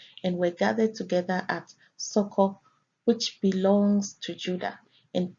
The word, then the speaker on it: Socho: It is found in Strong's H7755 and pronounced there as Socho.